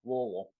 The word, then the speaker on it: Louisville: You have to say it like you have a mouthful of food. Is how to properly pronounce Louisville.